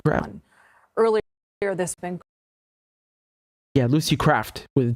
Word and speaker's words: Lucy Kraft: Yeah, Lucy Kraft with a T.